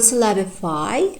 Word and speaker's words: syllabify: And in the word syllabify, we have tertiary stress. In the I, the full vowel at the end, syllabify.